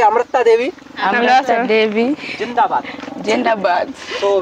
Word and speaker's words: Amrita Devi: That's why this is come to be very difficult to pronunciation. Mm. So say Amrita Devi.